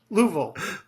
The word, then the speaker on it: Louisville: It's actually just two syllables. Louisville.